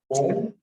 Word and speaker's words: ओम: ओम यह 3 मात्राओं का बना है. अ, उ और म. जब हम ओम का उच्चारण कर रहे हैं, हम प्रयास करेंगे कि अ की मात्रा, उ की मात्रा और म की मात्रा तीनों एक साथ.